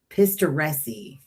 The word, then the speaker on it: Pistoresi: Pistoresi is how you say it, Jason.